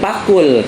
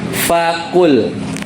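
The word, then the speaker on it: فَقُلْ: dibaca yang ayat 18 ini bukan faakul tapi faquul faul Ya gimana faquul ini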